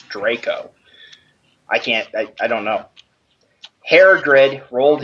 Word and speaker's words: Draco: Now, what WTF is Darko? Draco. I can't even pronounce that. It's Draco.